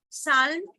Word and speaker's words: psalm: So can you give me words like castle and psalm, where in ST, T is silent and PS, P is silent?